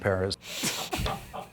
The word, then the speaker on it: Perez: Yeah, Perez is how you say it.